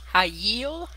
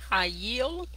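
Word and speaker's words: חַיִל: This is the first time we've had this in the Hebrew, and it is pronounced hayil, hayil, and it means strength, might, wealthy, or force.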